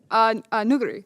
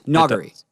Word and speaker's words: Nuguri: Well, it's like it's between a U and an O sound. Noguri. Nuguri.